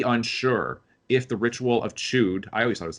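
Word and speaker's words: Chüd: CHUD, and Chud is how he thing like that is how he pronounces it.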